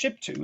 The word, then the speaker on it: Shiptu: She is pronounced Shiptu, is his wife.